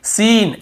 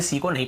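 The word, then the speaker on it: scene: और देखिए सीन, SENE सीन ऐसे पढ़ रहे हैं, यहाँ पर भी सी को नहीं पढ़ रहे, स्किन नहीं पढ़ रहे।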